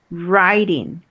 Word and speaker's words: writing: Writing. Riding. Ya dijimos que no se pronuncia la W, ¿verdad? Además es writing. Desde la R empezamos. Writing.